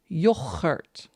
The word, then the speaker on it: yoghurt: I'm trying not to spit in my microphone because we call it yoghurt. That's how we pronounce it in the Netherlands. So you can practice on your hard G's again.